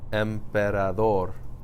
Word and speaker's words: Emperador: Emperador. Where did I stress it? Emperador. Emperador. I'm putting the stress here, which is the natural stress for a word that ends in an R.